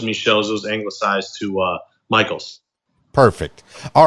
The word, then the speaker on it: Michels: it it it is Michael's and um maybe that's like my hidden goal is for everybody say no it's not Mitchell's it's Michael's he's big now yes